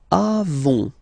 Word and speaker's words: avons: Then nous avons, final S not pronounced, avons.